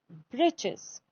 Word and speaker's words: breeches: Now the writer here spells it for fun to rhyme with the word witches.